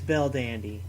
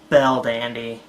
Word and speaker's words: Belldandy: fate wait a minute if you take her original name verdani translated into the japanese pronunciation you would get better Dondi which ends up being belldandy oh I'm so [ __